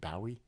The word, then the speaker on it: Bowie: You know, in Britain they pronounce it David Bowie. Is that correct?